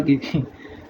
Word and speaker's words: Ge: जी का आएगा गे, GAY, वो वाला गे नहीं, जर्मन वाला गे।